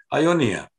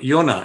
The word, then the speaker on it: Ionia: eastern parts of Greece, which is now called Ionia, or Iona, if you want to pronounce it that way, Iona.